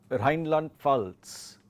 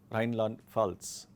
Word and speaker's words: Rheinland-Pfalz: Dann westlich von Hessen haben wir Rheinland-Pfalz. Rheinland-Pfalz. The P and F both have to be, to try to pronounce both. Rheinland-Pfalz.